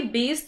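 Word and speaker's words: Bayes: अब आती है हमारी बेस थ्योरम। अब आप उसको बायस थ्योरम बोलो, बेस थ्योरम बोलो, प्रोनाउंसिएशन मैटर नहीं करता, आपका नॉलेज मैटर करता है।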